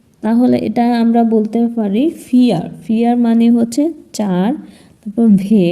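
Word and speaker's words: vier: এখানে আমি এটা বলিনি ফাউটা উচ্চারণ হবে ফ এর মত ফাউ দিয়ে তো আর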